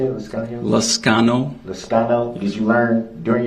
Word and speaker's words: Liscano: Liscano.